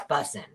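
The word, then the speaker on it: bussin: And you kind of have to say it like busing. Like, no, I'm not saying it right. Oh, it's busing.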